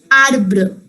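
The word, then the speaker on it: arbre: r e a r b r e is pronounced as arbor harbor if you want to tell someone like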